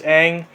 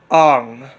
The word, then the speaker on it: Aang: In the TV series, the main character's name is Aang, but in the movie, they call him Ong.